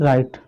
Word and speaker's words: write: देखिए एग्जाम्पल है WRITE, राइट। इसको क्या पढ़ते हैं, सॉरी, इसको क्या पढ़ते हैं, राइट।